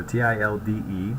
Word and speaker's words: tilde: here is a tilde so t-i-l-d-e pronounced tilde very similar to matilda which is a completely